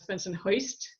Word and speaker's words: Bensonhurst: So I went to John Dewey Public High School out in Bensonhurst, which we sometimes pronounce Bensonhoist, and had an amazing public school education in New York.